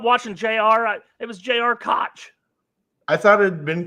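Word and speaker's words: Koch: who's gonna be a freshman Cooper cook J.R Cook's son who's coming in is gonna play a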